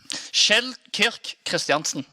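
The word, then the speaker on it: Kjeld Kirk Kristiansen: Like, we can pronounce his son's name perfectly fine. Kjell Kirk Christiansen.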